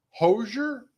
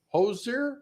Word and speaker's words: Hozier: uh he is probably 41 35 finally singer hosier hozier oh yeah take me to the church is